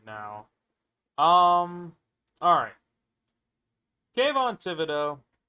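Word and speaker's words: Thibodeaux: My guess is what's gonna happen is they're gonna take Thibodeau, if that's how you say it, It's Thibodeau.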